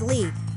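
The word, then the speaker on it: Leigh: My middle name is Lee, but it's not spelled like you think.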